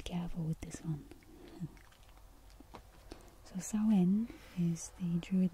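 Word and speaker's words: Samhain: but as you can see the word itself is spelled or differently so be careful with this one so so in is a druid name for Halloween it is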